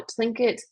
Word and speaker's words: Tlingit: But here in parentheses is the way to pronounce these names. So Tlingit, Tsimshian, Haida, Kwakiutl, Kwakiutl, and Salish, and then the Bella Coola.